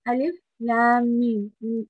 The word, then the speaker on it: الم: You need to make sure that you pronounce them separately, right? Alif Lam Mim. Lam and Mim both have mud on them.